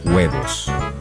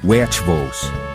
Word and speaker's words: huevos: H is silent. Huevos. Huevos.